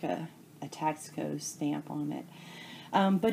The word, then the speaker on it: Taxco: Taxco has kind of been around for many years, and my first piece of Taxco, and that's how I pronounce it, is T-A-X-C-O.